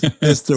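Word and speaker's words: Pfister: You know, like it's spelled with a P. It's to be fair. To be fair, it's Fister with a P.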